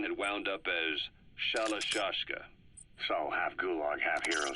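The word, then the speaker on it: Shalashaska: The guerrillas were using the name amongst themselves, and by the time I got to hearing about it, the pronunciation had wound up as Shalashashka.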